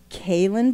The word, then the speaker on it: Calen: Calen Blake. Did I say it right? Calen. You did, yeah.